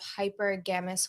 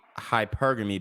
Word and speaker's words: hypergamy: community on there of hyper gamus women basically if you're um hypergamy baby not hypergamus okay like i mean